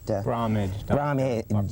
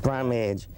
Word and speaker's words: Bromage: How do you pronounce that? Bromage. Bromage is Bromage.